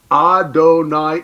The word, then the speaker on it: Adonai: hesitate go oh wait I'm not supposed to pronounce that I'm supposed to say Adonai instead a o a and